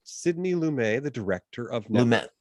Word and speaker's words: Lumet: Lumet, the director of Lumet. He does pronounce the T. Lumet.